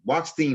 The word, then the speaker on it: Wachstein: I can't even say Wachstein. Wachstein, that's how you say her name.